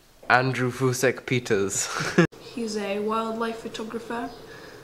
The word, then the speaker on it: Fusek: peters how do you say his name andrew fousek peters he's a wildlife photographer um i like